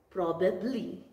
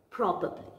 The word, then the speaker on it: probably: People call it as probably, but the correct way of pronouncing this word is probably.